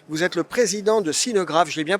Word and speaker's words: Sineu Graff: Vous êtes le président de Sinograph, je l'ai bien prononcé.